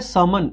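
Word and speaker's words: sermon: ये जो होता है समन इसमें आर जनरली साइलेंट रहता है तो ये बेसिकली क्या होता है जो धार्मिक उपदेश होते हैं ना वो बेसिकली शमन होते हैं।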